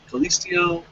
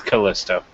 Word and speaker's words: Kalisto: next match Sora and Kaliso I always feel like I'm mispronouncing that am I even saying it right be honest no it's Kalisto I'm pretty sure it's Kalisto all right well I